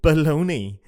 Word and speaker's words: bologna: Americans putting their sandwiches it's spelled bologna as in the city bologna and they pronounce it baloney hell